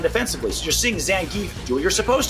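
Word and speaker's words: Zangief: and I learned today his name's pronounced Zang I've been calling him zangi for 30 years all right Jamie semi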